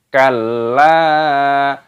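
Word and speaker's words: كلا: Kalla, lamnya ditasdid dan dipanjangkan lam alifnya. Kalla balla, ini sama saja seperti sudah tasdid, makanya dimasukkan balla, balla, lamnya panjangkan lam alifnya.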